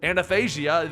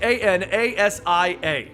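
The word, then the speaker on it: Athanasia: problems pronouncing that one it's literally spelled a t h a n a s i a anasia i i i got it right in the video I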